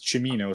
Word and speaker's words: Cimino: I've always heard it pronounced as Chimino, so that's how Chimino, that's it.